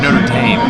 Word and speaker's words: Notre Dame: think you're doing this on purpose now oh Notre Dame Notre Dame you just saying it wrong this